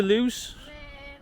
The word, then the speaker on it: Luz: for the 40 leads to lose well Luke as they pronounce it here the ground building very